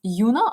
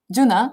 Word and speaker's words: JUNO: and maybe do we do you pronounce yunna or juno how is it german juno the platform so when